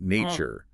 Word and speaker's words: nature: Nature, the stress is on the first syllable.